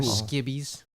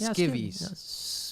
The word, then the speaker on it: skivvies: up we're all under skibbies by the way skibby's is that how you say it or is it skivvies skivvies skivvies skivvies okay